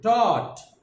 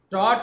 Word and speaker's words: taught: that is stop G each G and H are silent so that's why I